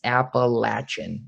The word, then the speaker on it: Appalachian: a positive because the appalachian league is or if i am i saying it wrong it's in appalachian you were saying appalachian so it is technically apple it's the appalachian league